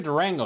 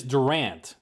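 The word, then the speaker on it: Durante: feeling fabulous yeah but it's not even Durango it is Durant yeah Jimmy Durant with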